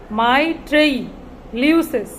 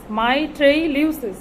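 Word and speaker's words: mitrailleuses: শোনেন, এই শব্দটা যদি আপনি অর্ধেক অর্ধেক করে পড়েন, অর্থাৎ 4টা করে ওয়ার্ড ভেঙে ভেঙে পড়েন, তাহলে উচ্চারণ করতে সুবিধা হবে। আমার সাথে একটু চেষ্টা করেন, তাহলেই হয়ে যাবে। মাইট্রেইলিউসেস, মাইট্রেইলিউসেস এভাবে পড়লে, তাহলে আপনাদের এটা পড়তে কয়েকবার পড়লে ইনশাল্লাহ উচ্চারণ ঠিক হয়ে যাবে।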